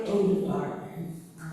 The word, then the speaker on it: Odegaard: Charlie Odegaard, his last name is spelled G-A-A-R-D. Guard, again, there's two A's.